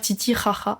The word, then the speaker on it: Titicaca: Un exemple notamment sur les îles du lac Titicaca, qu'on prononce d'ailleurs Titicaca, attention.